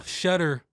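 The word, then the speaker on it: Tschetter: Will Shetter, I think, but it starts with a T. T-S-C-H-E-T-T-E-R. It's just confusing. No point of a T. Some silent letters just don't need to be in words or names.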